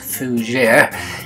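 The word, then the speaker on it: Fougère: The term Fougere, pronounced Fougere, is French for fern.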